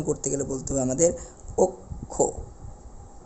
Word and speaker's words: অক্ষ: যাবে অর্থাৎ উচ্চারণ করতে গেলে বলতে হবে আমাদের অক্ষ উচ্চারণ ক্ষেত্রে আমাদের বলতে হবে অক্ষ একই রকম ভাবে